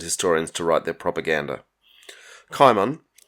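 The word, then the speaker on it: Cimon: to write their propaganda kaiman i'm going to go with the hard c pronunciation it is debated was a hero of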